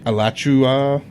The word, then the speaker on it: Alachua: All right, it took almost 4 years for Danny Rolling to be brought to trial by Alachua County State Attorney Len Register. I think that's how you pronounce the county.